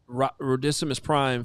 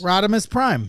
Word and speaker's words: Rodimus Prime: Rodimus Prime. Yeah. It's like Optimus Prime, Yeah. but Rodimus Prime.